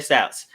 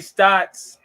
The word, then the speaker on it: Stotts: five bucks whatever okay terry stouts head coach terry stotts you said terry scott we're both wrong that's how it doesn't